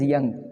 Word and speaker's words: Jung: Carl Jung, they call him. They write J and pronounce it as Young.